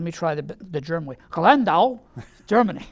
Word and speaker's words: Landau: Well, he was born in Landau, Germany, which I'm sure I'm mispronouncing. Let me try the German way. Landau, Germany.